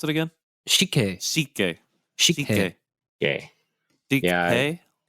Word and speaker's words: Sikhye: Yeah, so Shike? I'm happy Is that that what I it's called? found it, and now we get to try it. And Wait, how do you pronounce it again? Shike. Sikhye.